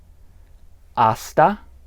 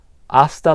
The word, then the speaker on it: hasta: Aasta la vista. Aasta la vista. Now, I'm sure you noticed, as we've said in earlier lessons, that you don't pronounce the h in aa.